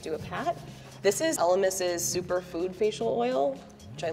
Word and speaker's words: Elemis: This is Elemis.